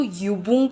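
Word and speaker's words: Übung: जब ये यू के ऊपर उमलाउ होगा तो हम इसको युबंग पढ़ेंगे।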